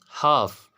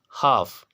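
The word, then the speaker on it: half: हाफ, हाफ, एफ से पहले एल आ रहा है तो ये एल भी क्या होगा, साइलेंट होगा, हाफ।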